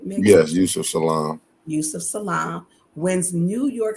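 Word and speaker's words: Yusef Salaam: name right am I saying it right yes Yousef Salam Yousef Salam wins New York City Council seat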